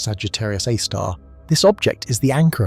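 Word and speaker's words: Sagittarius A*: It is a super massive black hole called Sagittarius A, pronounced Sagittarius A star.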